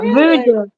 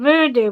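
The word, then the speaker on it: Vudu: Voodoo. I think it's called Voodoo, but it's spelled V U D U or something.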